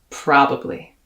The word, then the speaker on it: probably: these very surprising ways so your first syllable is ah as in the word spa pra your second syllable uh very similar to what you hear in my pronunciation of the word stuff pra now stress the first